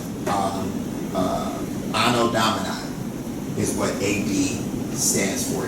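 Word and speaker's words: Anno Domini: So we're in 2024 A, which is actually uh it stands for um ano uh domini. That's how you pronounce that. Um uh anodomina is what AD stands for.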